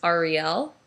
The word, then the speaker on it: Ariel: Yes, my middle name is Ariel, although technically the correct pronunciation is Ariel. But hey, if you want to call me a Disney princess, I have no problem with that.